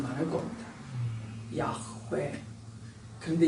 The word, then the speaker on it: 야훼: 아마 사막에 흙먼지가 많으니까 이 목 구멍에서 나는 발음이 많을 겁니다. 야훼.